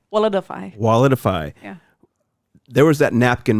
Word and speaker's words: Walletifai: Walletifai. Walletify.